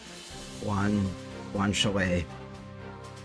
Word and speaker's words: guanciale: Guanciale. Okay, yeah, of course it's Italian, so it's pronounced in a weird way.